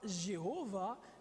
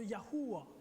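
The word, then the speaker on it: Yahweh: de au complet yhh la prononciation très certainement serait non pas Jéhovah mais serait très proche de yahua vous avez entendu Yahoué déjà ok Yahoué mais ce serait très simplement plus yahua parce que si on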